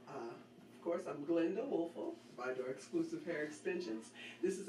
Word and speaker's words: ViDora: It is, correct me if I'm not pronouncing this right. Okay. ViDora? ViDora is correct.